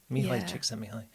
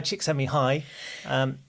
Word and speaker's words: Csikszentmihalyi: So I'd got his surname cracked, but then it's Mihai Csikszentmihalyi.